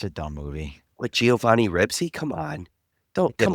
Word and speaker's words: Ribisi: He's I said Ribisi, isn't he? Not alright, my Ribsy.